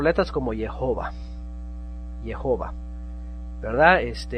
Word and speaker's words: Jehová: En nuestras Biblias tenemos la J y se pronuncia Jehová. La H obviamente en español no suena, es muda, le llamamos muda.